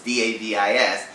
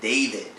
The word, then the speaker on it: Davis: His name is Jason Davis, Davis. She was pronouncing it Jason David.